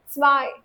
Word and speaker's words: zwei: So one thing you have to remember, whenever EI is written together in a word, the pronunciation will always be of I, the English I. That's why you say, I'm saying eins, not eins, zwei, drei, again.